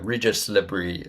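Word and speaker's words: Régis Le Bris: And yeah, Regis Lebris is what I've come to, is what I believe it is, how Le, it is pronounced.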